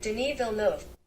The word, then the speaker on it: Denis Villeneuve: I'm gonna look up how to pronounce that real quick. Denis Villeneuve.